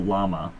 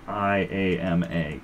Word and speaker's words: IAMA: Our subreddit of the week, as I first pronounced it in my head, was Casual Llama. Because they have a picture of llamas, but it's Casual IAMA.